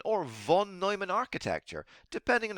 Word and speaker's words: von Neumann: Next, we have the von Neumann or von Neumann architecture, depending on how you want to pronounce it.